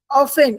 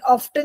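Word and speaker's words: often: ट्वीन हु आफ्टर remind ऑफेन ऑफन नहीं होता बेटा टी is silent ऑफेन ऑफेन remark upon this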